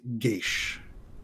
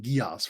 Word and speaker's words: Gesh: And Guntir, you cast Gesh. Gesh. Gesh? Gesh. Gesh. Which I have been pronouncing Gios for a very long time.